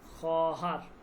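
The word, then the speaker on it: خواهر: উচ্চারণটা দেখেন। খহার। খহার হবে। ঠিক আছে? খহার।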